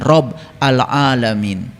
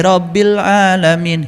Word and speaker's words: Rabbil Alamin: Itulah yang disebut dengan Rob al-Alamin. Suka baca kan? Suka. Bacanya aja kalian keliru. Alhamdulillahi Rabbil Alamin. Hirob. Hirob itu perang.